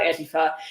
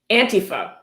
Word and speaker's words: Antifa: Antifa. Pronounced Antifa. He spells it out, so you're sure to pronounce it Antifa. Not Antifa, Antifa.